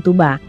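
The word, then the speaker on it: Tuğba: kalangan teman-temannya adalah tugba meskipun ada huruf g dalam nama tugba namun dalam bahasa Turki huruf g itu tidak dibunyikan saat diucapkan karena merupakan huruf halus atau yumusak yang hanya digunakan untuk memperpanjang bacaan dengan demikian nama tugra diucapkan Tuba dalam bahasa Turki arti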